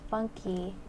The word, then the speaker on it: funk: everywhere Monu says it's a Brazilian music genre called funk pronounced funky and has some big